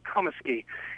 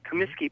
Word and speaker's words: Comiskey: the name of Hugh Comiskey. And in Lowell, you might have heard the name pronounced Comiskey, but it's pronounced Comiskey, I'm told, by my Northern Irish colleagues.